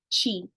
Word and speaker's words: Qi: travels throughout the body Qi can also be called Chi pronounced Chi and uh the primarily